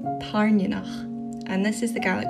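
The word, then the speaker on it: Tairneanach: I am a Scottish Gaelic speaker and this is how you actually pronounce them. I'll start with the big one. Violet's dragon is called Tarnionach. Tarnionach.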